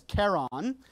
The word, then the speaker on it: Charon: But in planetary sciences, we try and honor Jim's discovery, and so we try and pronounce it Charon with the soft SH, which is what he wanted.